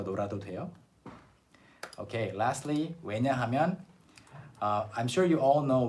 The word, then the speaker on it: 왜냐하면: And in spoken Korean, although 왜냐하면 is 4 syllables, in spoken Korean people often say 왜냐면. Okay? 왜냐면.